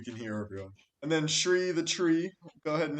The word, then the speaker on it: Shri: And then Shri the tree. Go ahead and introduce yourself. What's up? My name is Shri. It rhymes with tree.